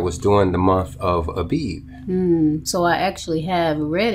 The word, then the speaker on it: Abib: during the month of abeed so i actually have read it i just probably pronounced it wrong well sometimes it's pronounced aviv with a v as in victor but you probably just